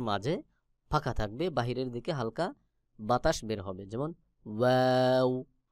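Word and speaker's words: ه: ফাঁকা থাকবে, বাহিরের দিকে হালকা বাতাস বের হবে, যেমন ওয়াও ওয়াও ওয়াও। এরপর রয়েছে হা। হলকের শুরু হইতে হা উচ্চারণ হবে, হলকের শুরু হইতে। হা এবং হামজা দুইটা হরফ একই জায়গা থেকে উচ্চারণ হয়, যেমন হা আমজাহ হা আমজাহ।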